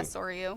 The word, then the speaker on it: Soryu: how you pronounce it? Soryu. Soryu? Yeah, Soryu.